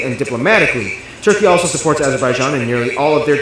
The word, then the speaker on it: Azerbaijan: Yeah, I can't believe I pronounced the name wrong. It's Azerbaijan.